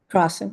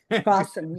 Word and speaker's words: Crosson: It's that Dr. Cynthia Crosson, Crosson, yes. yeah, her Congratulations. You're one of the few people that pronounce oh, it correctly. Crosson, did I say it right? Crosson, yes. That's good.